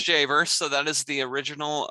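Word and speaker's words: Dziawer: dz oh so that's that's that's a german polish spelling so that is polish immigrants who uh emigrated to germany before they made their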